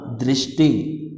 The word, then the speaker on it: दृष्टि: होगा उसका, कृपा, कृष्णा, दृष्टि। समझ में आ रहा है, री का साउंड आ रहा है तो तीनों में क्या हो रहा है, री का उच्चारण हो रहा है, रिवाज में नहीं हो रहा है।